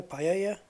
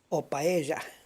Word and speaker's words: paella: years yeah paella paella don't pronounce it with an L it's not paella paella it depends what part of Spain you come from by by Asia the Double L can be pronounced as a soft J kind of or it can be uh in Spain it's normally pronounced like a y Marbella I had a